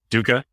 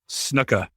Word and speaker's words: Snuka: Duca? Yeah, I mean, isn't that how you say his name? Am I saying it wrong? Am I doing an email? Snuka.